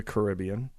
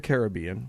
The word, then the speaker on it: Caribbean: got back uh from the Caribbean which or the Caribbean whichever one are both acceptable pronunciations I don't care